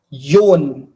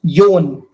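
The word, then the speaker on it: よん: Number 4 is pronounced as yon. Number 4 is pronounced as yon.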